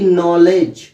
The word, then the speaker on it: knowledge: Okay, तो ये जो वर्ड्स हैं इसमें के जो है वो साइलेंट रहता है और हम एन से स्टार्ट करते हैं, यानी कि नॉलेज, ओके, नॉलेज, इस तरह से लर्न करते हैं।